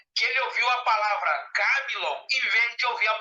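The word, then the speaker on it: κάμιλος: E Camilon em grego quer dizer nó. Então, olha só como é que eu pronuncio. Camilon e Camelon.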